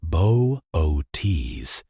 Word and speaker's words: Boötes: Bootus, pronounced Boise, is named for a figure in Greek mythology,